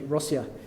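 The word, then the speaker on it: Россия: from there it's actually rossia it's how they pronounce it in Russian um but putting that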